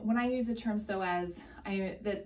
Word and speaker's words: psoas: I use the term so as I the the muscle name is spelled p-s-o-a-s pronounced so as and typically when you